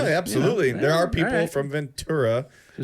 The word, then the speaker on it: Ventura: s Ventura no not chura okay churo it's Ventura right I just want to make sure we got that right because absolutely there are people from Ventura who say vura that well they look get